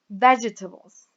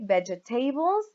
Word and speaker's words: vegetables: So, for example, here we have it on the first syllable, so we say vegetables. We don't say vegetables or vegetables. We say vegetables.